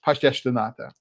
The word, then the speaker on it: pastéis de nata: And while I was there, I was introduced to pastéis de nata. And I don't know that I'm pronouncing it properly because I tend to pronounce with Brazilian Portuguese pronunciation as opposed to mainland Portugal Portuguese pronunciations.